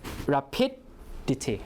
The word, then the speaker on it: rapidity: And then iti, when you see the iti, the stress falls on the syllable before iti. So it's rapidity, right?